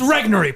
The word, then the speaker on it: Regnery: the one place I have Robert's back is, of all people, to correct his pronunciation on something. Steve Robinson. The publishing. It's Regnery, pal.